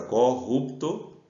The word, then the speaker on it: corrupto: Palavra corrupto, que eu já comecei. Então, a palavra corrupto ela é dividida em 3, né? Ela é trissílaba. Fica corrupto. A sílaba tônica é a penúltima, logo ela é uma paroxítona terminada em O.